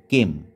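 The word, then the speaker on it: kame: ভূমিরূপটা আছে সেটা হচ্ছে কেম এর ইংরেজি উচ্চারণটা কিন্তু সেম কে এম ই কেম ধরো আমি বললাম যে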